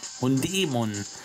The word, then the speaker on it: Hundemon: So, Hundemon. Hundemon. So ist ja richtig ausgesprochen werden.